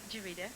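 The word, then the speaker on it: Juereata: your name is Walker and it's do you pronounce that jarita jarita isn't that funny I have a secretary called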